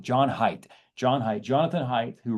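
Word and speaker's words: Haidt: John hate who John hate I always say his name wrong. John Height John height.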